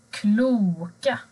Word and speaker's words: kloka: Bokstaven O, om det är en lång vokal, om det är långt ljud, så låter det normalt O. Till exempel kloka.